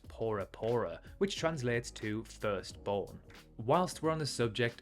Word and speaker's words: Bora Bora: of Tahiti fun fact as there is no letter B in the Tahitian language Bora Bora is actually pronounced porapora which translates to firstborn